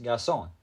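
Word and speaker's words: garçon: French it is pronounced gason you can see the squiggly C is pronounced like an S and the r is silent here's another one man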